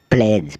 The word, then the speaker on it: pledge: फिर हम चलते हैं डी अल्फ़ाबेट की ओर जिसमें डी साइलेंट रहता है। BRIDGE ब्रिज, ब्रिज मतलब पुल। EDGE एज, एज मतलब किनारा। SLEDGE स्लेज, स्लेज मतलब बर्फ़ की गाड़ी। KNOWLEDGE नॉलेज मतलब ज्ञान। PLEDGE प्लेज, प्लेज मतलब प्रतिज्ञा।